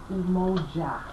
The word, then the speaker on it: Umoja: And it's pronounced again as Umoja.